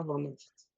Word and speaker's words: Van Agt: Quelle est la bonne prononciation de ton nom? Est-ce que c'est Eva Van Ast? Ah, c'est très bien.